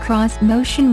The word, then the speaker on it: Xmotion: on Japanese design elements this motion pronounced cross motion was designed to have a